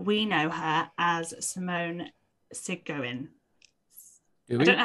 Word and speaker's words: Segouin: But we know her as Simone Segouin. Do we? I don't know how. Well, it's Simone from earlier in the story, but I'm never sure how to say her surname. It's Sigouin.